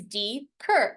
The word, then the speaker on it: Deaker: The way in which you say Deaker is D-cur.